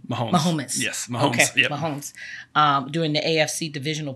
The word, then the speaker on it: Mahomes: you say that name Mahomes Mahomes yes momes Mahomes um during the AFC divisional playoff game in